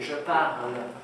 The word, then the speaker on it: parle: آخر je parle ترمینزون میشه ا، ولی حواستون باشه تلفظ نمیشه. Okay? This is ultra important. به هیچ وجه به این نگی je parle. Okay? Répétez, je parle. Je parle.